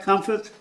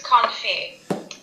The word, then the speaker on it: confit: Therefore, it's did I pronounce that right? Comfort? What? Is that how you pronounce it? I think it's confit.